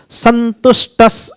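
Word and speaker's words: सन्तुष्टः: Santushta. Santushtas, you see the right pronunciation.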